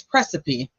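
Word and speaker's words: praecipe: here this is it's it's precipe sounds like recipe spelled like pre esip sometimes the words kill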